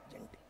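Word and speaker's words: gentle: तो क्या हो जाएगा, जेंटिल। अब देखना जरा, ये देखो इन दोनों वर्ड को, जेंटल और जेंटील दोनों ही एडजेक्टिव हैं, लेकिन इनका प्रोनाउंसिएशन है जेंटील और वो क्या था, जेंटल।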